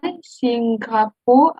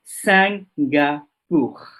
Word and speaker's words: Singapour: I, N, ça se prononce comment? Un. D'accord? Donc, Singapour.